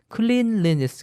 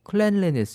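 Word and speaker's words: cleanliness: 애니 ss 를 붙이면 클레인 렌 s 가 아니고 클렌 엘스 이렇게 발음을 합니다 그러니까 발음은 좀 주의하시고요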